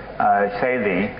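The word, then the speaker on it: Selye: So János, I never say his name correctly, the great Hungarian physiologist János Szély, I know it's, how is it?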